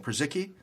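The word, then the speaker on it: Purzycki: Przicki, just like it looks, yeah.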